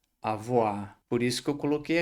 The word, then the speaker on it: avoir: Quando a gente tem o o com i, no francês, muitas vezes vai ter o som de oa. Então o verbo não é avoa, ele não se escreve a voir. A gente vai fazer esse o com i, o som de oá.